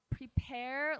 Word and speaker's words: Prepear: So it's spelled Prepear like the fruit. P-E-A-R. Like a pair of pears, yes.